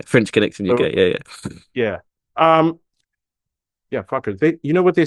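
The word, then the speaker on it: FCUKERS: They're called what? Fuckers. But they're Fuckers. It's spelled F-C-U-K-E-R-S.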